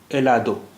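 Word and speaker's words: helado: इस अखर का उच्चारण हमेशा साइलेंट होता है। एलादो एलादो एलादो एलादो का मतलब है आइसक्रीम आइसक्रीम एलादो आइसक्रीम आइसक्रीम।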